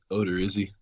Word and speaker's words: Odorizzi: So the first one, game 1, is going to be Karnes versus, how do you pronounce that? Odorizzi.